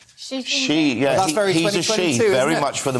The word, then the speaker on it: Xi: the right pronunciation and it's actually Xi Jinping did you know that she yes very much for